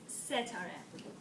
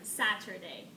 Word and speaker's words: Setareh: My name is Setareh. I know, it's a little bit hard for you guys to pronounce it, since I experienced it before when someone pronounced it as even Saturday.